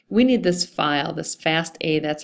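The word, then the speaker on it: FASTA: So, we need this file, this fast A, that's how it's pronounced, fast a file.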